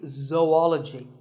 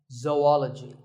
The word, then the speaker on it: zoology: do you say it if you said zoology it's actually wrong that is a very common mispronunciation this is actually zoology zo andology zoology number 42 is develop